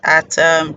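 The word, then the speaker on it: @: we have to add the ad is pronounced as at in English literally yes and it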